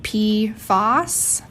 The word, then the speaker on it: PFAS: and polyfloral alkyl substances most people pronounce it P Foss pfos is just one